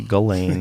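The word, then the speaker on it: Ghislaine: I think you say Galain.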